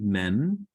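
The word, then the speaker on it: מם: Then we have mem. Mem is the M sound, as in moon, moon.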